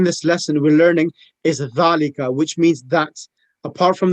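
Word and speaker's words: ذلك: We as Indian and Pakistanis, we read it zalika. That's incorrect. It should be dhalika. The tongue should be underneath the front two teeth.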